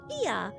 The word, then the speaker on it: Ia: When the vibration of vocal folds was still required to convey our thoughts and intention, Ia, I believe, was the pronunciation used when referring to our people.